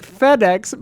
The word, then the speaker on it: Fede: Since Isla asked me last time, my name is pronounced like FedEx, but without the X.